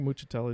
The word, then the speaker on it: Muccitelli: No, I think Muccitelli is how you say that.